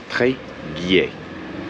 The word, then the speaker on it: Tréguier: Okay, we finally figured out how to pronounce the town. It's called Tréguier. Gail, do you want to try it? Tréguier.